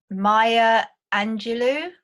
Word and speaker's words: Maya Angelou: this this this quote uh by I can't Maya Angelou is that how you pronounce do you know um yeah that's that's